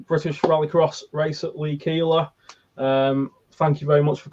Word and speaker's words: Keeler: I am pronouncing your second name right, Keeler.